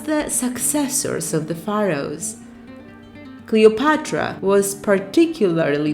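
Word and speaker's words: Κλεοπάτρα: name was Cleopatra the seventh cleopatore the name Cleopatra is Greek in origin in Greek it is pronounced Cleopatra it comes from cleos glory and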